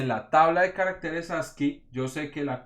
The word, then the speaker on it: ASCII: Entonces esta gente definió la tabla o el estándar ASCII. Y eso se pronuncia de esa manera.